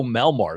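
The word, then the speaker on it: Melamed: Way back then in 2017, a guy named Leo Melmart, I believe is how you say his last name, Leo, was the head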